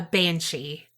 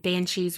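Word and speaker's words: bean sí: scary or not scary banshees really are. So the word banshee is derived from Old Irish Banshee, but it's like spelled like bean and then C as in senor, like si senor.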